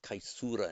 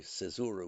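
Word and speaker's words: caesura: Remember, however, um that in at a break in a line, the cesura, the kaisura in Latin, the cesura we pronounced in English, which is kind of a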